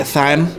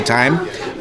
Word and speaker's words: thyme: beehive and the blueberry thyme crumb pie uh some people say time I like to pronounce my H's so the bear mousse